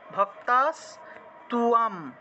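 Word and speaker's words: ভক্তাস্ত্বাং: ভক্তা স্ত্বাম, ঠিক আছে, ভক্তা স্তুয়াম, তুয়াম উচ্চারণ হবে। কেন হবে? কারণ এখানে দেখুন তয়ের নিচে বফলা আছে, আমরা জানি বফলা থাকলে, তয়ের নিচে বফলা থাকলে তুও উচ্চারণ হয়, তুও, সেজন্য এখানে আমরা তুও লিখেছি।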